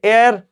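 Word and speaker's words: heir: का उसके बाद है एयर जी हां एच साइलेंट होता है तो एयर बोलते हैं एयर का अर्थ होता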